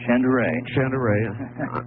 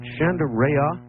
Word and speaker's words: Shandera: Now, Art, you're you're you're real close on my last name. It's Chandere. Chandere. Is it Chanderea? No, Chandere.